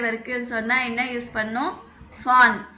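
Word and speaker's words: von: சொன்னால் என்ன யூஸ் பண்ணும், ஃபான். ஃபான் வி வந்து எஃப் ப்ரொனவுன்ஸ் பண்ணும். ஞாபகம் இருக்கா, ஆல்பபெட் படித்தோம் இல்லைங்களா. வி வந்து எஃப் ப்ரொனவுன்ஸ் பண்ணுறோம் இல்லைங்களா, அதே மாதிரி தான்.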